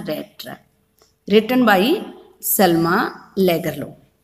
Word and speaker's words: Lagerlöf: Trap, written by Selma Lagerlöf. Sweden में इसको लैगरलोफ बोलते हैं, बट हम इसको लैगरलोफ बोलेंगे ताकि हमें इसकी स्पेलिंग याद रहे और हम राइट करने में गलती ना करें.